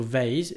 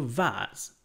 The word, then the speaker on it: vase: accidents alors attention la prononciation de Weiss les Américains vont dire plutôt vaillent les Britanniques vont dire plutôt vases qui aide méthodes break